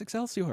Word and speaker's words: Excelsior: And everybody's like, and he's like, yeah, can anybody pronounce that word? And I said, yeah, it's Excelsior.